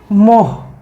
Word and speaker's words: মোঃ: কি হচ্ছে ম দিয়ে বিসর্গ দিলে হয়ে যাচ্ছে উচ্চারণ কি মোহ মুসাহ এরকম উচ্চারণ হবে সুতরাং শুদ্ধতার দিক থেকে